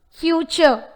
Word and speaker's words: future: Future. Future. The answer is Y. Remember, the word future has the letter R, but it is omitted and pronounced as A. Future, but not future.